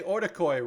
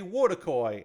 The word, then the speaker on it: Wotakoi: And I learned how to say Otakoi right because I used to say Wotakoi and the W is silent. It's Otakoi.